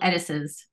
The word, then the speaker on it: Edesess: Edesess.